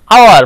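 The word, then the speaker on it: hour: এটাকে কি উচ্চারণ করি আওয়ার মানে ঘন্টা তার মানে আমরা এইচ টাকে উচ্চারিত রাখছি না এখানে এইচ টাকে অনুচ্চারিত রাখছি এইচ টাকে লুকিয়ে রাখছি এই লুকিয়ে রাখা বা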